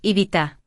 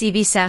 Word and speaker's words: Ibiza: En gran parte de España decimos Ibiza. Si dices Ibiza suave también te entienden, no pasa nada.